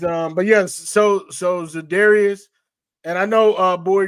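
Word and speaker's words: Za'Darius: Zadarius Smith. Oh, Zadarius. I kept hearing Larius in my I'm like, "Who the hell is Learius?"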